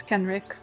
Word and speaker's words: Kenrick: Is that how you pronounce his name? Kenrick, right? Or Kenrek, actually, Julia? I always forget. Yes, Kenrick. Kenrick, yeah.